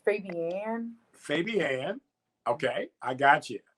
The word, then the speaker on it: Fabian: Yeah, but it's pronounced Fabian.